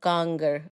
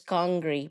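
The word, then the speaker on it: kanger: Now, I have to mention that the correct pronunciation of ganger, right? There is another way of saying it, which is Kangri, but this isn't strict Kashmiri. That is a little bit of Urduization.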